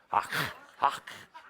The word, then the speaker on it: hak: But the origins are, the word hak means spirit in action. Spirit in experience. Hak. It's an ancient word. And you have to say it kind of like you're spitting. Hak.